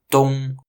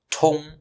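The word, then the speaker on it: 东: It's pronounced dong. Basically, D-O-O-N-G. Yet Waite-Giles spells it with a T, leading to, well, most people pronouncing it as tong, which is the pronunciation of a completely different character, meaning path.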